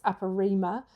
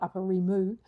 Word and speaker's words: Upper Rima: It's Upper Rima. It's the Upper Rima cardigan. I keep going to call it Upper Rimu.